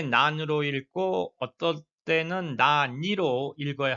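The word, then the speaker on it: 何: 마지막에 왼쪽 노시대 또 왜 그런가요라고 물어볼 때 난데 파티니 났단됐을까 왜 파티에 안 오셨나요 이럴 때는 나은 난이라고 불 읽어야 합니다. 나니가 읽으시면 안 되죠.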